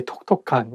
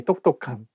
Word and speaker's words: 똑똑한: You cannot say 톡톡한. You have to say 똑똑한.